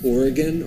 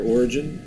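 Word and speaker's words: Origen: leader of this was oregon or origin depending on your pronunciation and he called on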